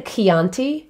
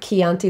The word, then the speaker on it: Chianti: of people say bruschetta the ch like a chianti in italian right chianti the wine it's just it's a hard k sound so if you ever see a ch in italian if it's an italian word it is pronounced with a k sound so oki oki di